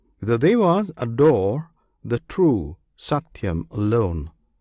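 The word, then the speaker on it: satyam: theas adore the true satum alone this satum consists of three syllables one syllable is sa another T the third yam the first and last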